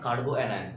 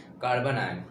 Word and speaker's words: carbanion: Not carboanion. That is actual spelling pronunciation is carbanion.